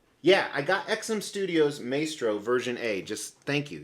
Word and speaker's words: Maestro: that it's already here this is Maestro or Maestro as you guys like to call them you say it wrong by XM Studios so